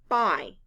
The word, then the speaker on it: buy: loud b u y the letters u y stand for the long i sound i blend with me